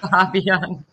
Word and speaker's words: Fabian: Is it Fabian? How would you like me Fabian to pronounce it? Perfect. Fabian.